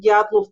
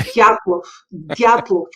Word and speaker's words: Dyatlov: That's how I heard Dyatlov Pass for the first time.